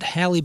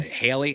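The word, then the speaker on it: Halle: Halib Berry is 26. That is uh Ariel in the live action. Haley Haley. Well, then why don't you spell it like that? Ha. I think it's Haley Bailey.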